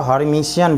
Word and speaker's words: Hermitian: देखो हर्मीटियन भी कह सकते हो, हर्मीशियन भी कह सकते हो, ये अलग अलग प्रोनाउंसिएशन भी है, तो कोई दिक्कत नहीं।